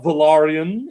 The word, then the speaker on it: Valyrian: Targaryen and Lord Cordly's Valyrian or Valarian if you want to say it correctly leading the Dordishmen into battle over the Stepstones.